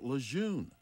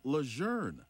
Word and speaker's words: Lejeune: pronounced most people tend to call it Camp Lejeune but the pronunciation of the generals name is actually Luzerne instead of Lejeune despite the phonetics one thing was certain Camp